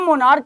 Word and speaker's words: monarch: यहां पर च है, लेकिन यहां मोनार्क का प्रोनाउंसिएशन में CH का प्रोनाउंसिएशन च नहीं बल्कि क है, इसलिए इसका जो प्लूरल होगा वो प्लूरल MONARCHS होगा।